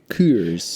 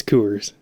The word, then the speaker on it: Coors: do love creation uh is it coors or is it coolers yeah you i pronounce it wrong sometimes it's coors okay let's crack these